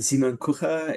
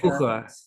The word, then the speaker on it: Kucher: If you're in German, Simon-Kucher. If you're in America, Simon-Kucher. Simon Okay.